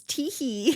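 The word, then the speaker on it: T. Hee: It's Teehee. Teehee. Just for clarification, it's T period. Not Teehee. Last name He. Not T-H-E-E. H-E-E. And Teehee.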